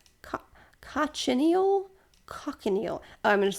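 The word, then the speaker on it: cochineal: don't know how to say this word Co cocon nail Co cinal cockanal oh I'm going to spell it it's c o c h i n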